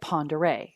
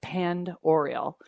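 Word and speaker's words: Pend Oreille: faragate State Park in Lake Ponderay and it's spelled p n d o r i e l l e it looks like panned oral um but our friends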